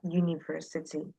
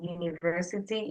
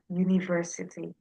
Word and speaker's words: university: So yeah, university it starts with a U but it's pronounced with a Y. So it is a university, right?